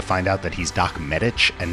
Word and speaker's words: Medich: 80s baseball cards, but I always assumed his name was pronounced Medich and that was the obvious source of his nickname. But his name is actually pronounced Medich, and his nickname was